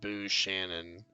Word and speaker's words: Buchanan: Buchanan, maybe. No, but the last name is pronounced Boo Shannon.